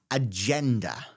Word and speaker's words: agenda: This is an agenda. Agenda. That G is a J sound as in giraffe suggest or Germany.